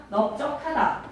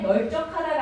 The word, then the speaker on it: 넓적하다: 넓다에다가 적하다라는 또 어근이 왔을 때 널적하다가 아니라 뭐라고 발음해 달라고? 넓적하다.